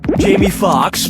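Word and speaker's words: Jamie Foxx: lead in Jango Unchained Jamie Fox Jamie Fox Jamie Fox or Jamie Fox Jamie Fox's last name has two x's in it the first x is silent brace yourself for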